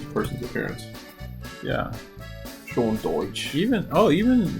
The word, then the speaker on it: Dyche: Sean Dyke? I thought it was Dyke. No, it was Dyche. Oh, okay, Dyche.